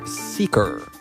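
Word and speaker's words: Seekr: It's spelled Seeker, S-E-E-K-R, Seeker.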